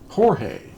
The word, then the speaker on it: Jorge: The letter J is often pronounced as an H in Spanish. What we see as Jorge is pronounced Jorge, not George.